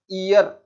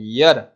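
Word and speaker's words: year: एक बहुत कॉमन शब्द एग्जाम में कई बार पूछा जाता है, इस शब्द का प्रोनाउंसिएशन हम लोग करते हैं ईयर, और इसका ठीक प्रोनाउंसिएशन है यर, और इस यर के साथ भी हम लोग अ यूज करते हैं।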